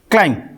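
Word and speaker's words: climb: Silent हो जाएगा। इसको पढ़ेंगे क्लाइम।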